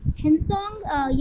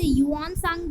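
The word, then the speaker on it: Xuanzang: ये अपना हेनसोंग या फिर इसे युआन सांग भी बोलते हैं।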